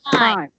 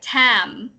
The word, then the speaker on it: time: Because when you say it, it sounds like tam. But Yeah. yeah. So actually say it. Even if it sounds kind of awkward, say the whole I sound. Time. Time. Yeah. I know it's not as it doesn't feel as smooth as saying tam, but time is correct.